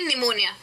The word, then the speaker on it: निमोनिया: कोई लॉजिक नहीं है जैसे की निमोनिया ऐसा कोई रूल नहीं है की एन अगर आया तो पीस साइलेंट ही होना चाहिए लॉजिक सैंपल ये है की पी और एन का साउंड नहीं है साथ में तो न ऐसा कोई साउंड ही नहीं होता है ऐसा कोई सामने होता